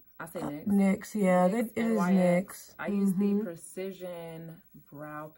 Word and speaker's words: NYX: I use the, what do they pronounce it as? NYX. I say NYX. NYX, yeah, NYX, it is NYX.